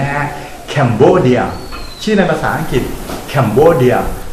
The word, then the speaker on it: Cambodia: ว่า Cambodia นะ ครับ ออก เสียง อีก ครั้ง ครับ Cambodia 3 พยางค์ ครับ ลูก Cambodia สะกด แบบ นี้ ครับ c a m b o d i a capbodia นะ ครับ ไม่ ใช่ คอมโบเดีย นะ ฮะ Cambodia ชื่อ ใน